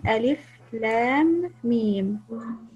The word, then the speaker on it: الم: أنتو تلفظاش نمي كونيم، أنتو مي كونيم ألف لام ميم.